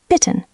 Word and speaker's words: bitten: Now, bitten, to ask, request, short I.